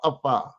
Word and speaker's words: Afa: It's called Afa. That's the name of the system. You know, you can't pronounce it. Yeah, it's called Afa. AFA. You pronounce it here, but it's Afa.